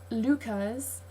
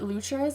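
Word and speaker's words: Leuchars: 10 minute drive uh it's Lucas um but like I called it luchas until very recently so I know I'm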